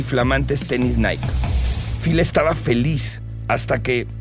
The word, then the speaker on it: Nike: falcon y dimension six pronunciado como Nike en inglés Nick en español es el nombre de la diosa griega de la Victoria Phil quedó encantado y